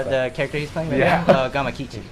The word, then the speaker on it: Gamakichi: Please, I'm terrible with pronunciation. Oh, the character he's playing? Yeah. Gamakichi. Gamakichi.